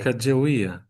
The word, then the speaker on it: Sacagawea: sak sak um it's it's easy like a Russian word I'll put it that way it's just made up of you like syllables sa ah saka Sakia. Saka. Saka. You got it. See, if you can speak Russian, you can you can pronounce that word very easily.